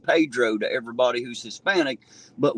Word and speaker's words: Pedro: I live in a little place called Pedro p-e-d-r-o and yes I know it's pronounced Pedro to everybody who's Hispanic but when you're hillbilly American it's called Pedro that's what it's been called my whole life